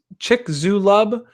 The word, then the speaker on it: Chicxulub: about stuttering issues please chick chick X look X chicxulub I think would be the right way to pronounce it yes Kaspar go says